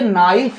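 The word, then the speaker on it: knife: के एन आई एफ के के बाद अगर एन आएगा उसके बाद अगर कोई वावेल आ रहा है तो हम के का उच्चारण नहीं करेंगे सिर्फ एन आई या फ नाइ पढ़ेंगे अगला है नो तो नो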